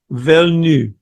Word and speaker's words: Villeneuve: well, according to everything I've listened to recently, it's Denis Villeneuve. That's it. You don't pronounce the end of it. That It's sounds just like it's Villeneuve.